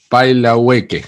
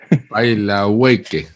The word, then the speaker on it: Pailahueque: Pailahueque, así se pronuncia tu apellido, ¿verdad? algo Paila, así. Pailahueque.